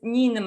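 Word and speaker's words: Ninmah: Assyrian or Sumerian goddess Ninma. Right. Ninma? Ninma. How do you spell that?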